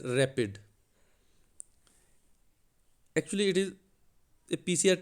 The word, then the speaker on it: RAPD: Dear students, today we will discuss random amplified polymorphic DNA RAPD, pronounced as rapid.